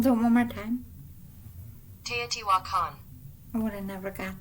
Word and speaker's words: Teotihuacan: Tiwa. What? Teotihuacan. I was way wrong. Teotihuacan. We'll do it one more time. Teotihuacan.